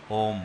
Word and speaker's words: ओम: तो ओंकार की जब जाप हम करते हैं ओंकार का उच्चारण अ उ म मिलाकर ओम है।